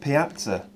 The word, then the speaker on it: piazza: I would say terrazzo, as the word piazza in Italian is pronounced piazza.